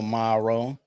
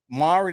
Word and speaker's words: Mowry: love and hip pop um fiascos um Tia Morrow talking about her graduation to the fours Mari that's how you say her name yeah tiamaring